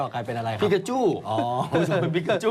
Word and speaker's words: ปิกาจู: ละคร ใน โปเกมอน เอ พิกาจู พิกาจู ใช่ พิกาจู นะ ออก เสียง วรรณยุก ให้ ถูก นะ ฮะ พิคาชู ใช่ เดี๋ยว จะ ออก กลาย เป็น อะไร ครับ เดี๋ยว จะ ออก กลาย เป็น อะไร ครับ ปิกาจู อ๋อ เป็น ปิกาจู อ